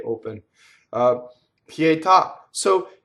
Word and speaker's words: pietà: open a pietà so the word pietà is a truncated word the AH with the accent is telling you that there's an extra syllable so the full word that nobody uses is pietà day with a de at the end that do you get cut off so now we have